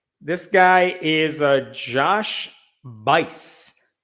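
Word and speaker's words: Buice: This guy is a Josh Bice. B U I C E. Josh Bice. That rhymes with lice.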